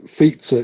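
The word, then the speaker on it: Fico: had three points so the uh fizza is how you pronounce the Slovakian guy's name it's like like fza too big fza so the C in Slovak Czech uh polish it's it's a sound just a stupid point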